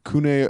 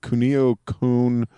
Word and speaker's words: Kunio-kun: it is it is part of the the kunai ugh how do you say it kunio-kun series from Technos in Japan which I'm trying